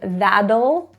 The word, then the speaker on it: that'll: Notice the first T in that'll is actually pronounced as a D. That's a flap T.